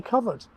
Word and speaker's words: covert: As we continue into the 20th century, the pronunciation in dictionaries on both sides of the Atlantic continues to be covert for both noun and adjective.